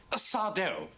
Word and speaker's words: Sardo: um Sardo. No, mister. Accent on the dough.